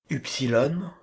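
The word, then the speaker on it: ύψιλον: à notre t français upsilon qui signifie u simple lettre piège qui se prononce u faites attention à la majuscule ce qu'on appelle y aujourd'hui se prononcer U à l'époque cette voyelle se prononce également u en latin classique fit transférer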